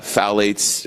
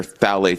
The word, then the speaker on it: phthalates: The first half is the fact that the nonstick Teflon, the unfiltered water, the uh phthalates or phthalates, sorry, that are in our beauty products.